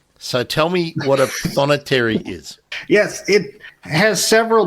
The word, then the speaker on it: prothonotary: Now, let's get the pronunciation right. Prothonotary. This warbler, yeah. How do we say it? Prothonotary.